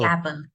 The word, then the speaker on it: gavel: Gavel. Yeah, navel and gay.